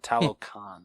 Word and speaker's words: Talokan: Shows Shuri his vibranium-rich underwater kingdom of Talokan? Is that how you pronounce it? Talokan, thank you.